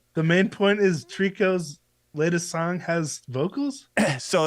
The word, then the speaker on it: tricot: was trying to say the main point is trico's latest song has vocals so it's called Trico yeah yeah that's how I pronounce it okay why nobody has ever told